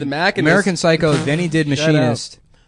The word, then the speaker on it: Machinist: He straight up he made the mechanist before he did Batman. Is that how you pronounce it? Machinist, The the mechanist.